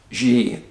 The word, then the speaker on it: Xie: a chinese national name alice g and it's pronoun it's spelled x-ie 41 years old took